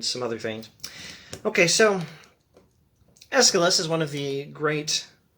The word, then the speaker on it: Aeschylus: Now, I'm not entirely sure how I should be pronouncing this name Aeschylus. That's how I've been accustomed to saying it. If I were reading it phonetically, I would probably say Aeschylus, Aeschylus, something like that. It's Aeschylus.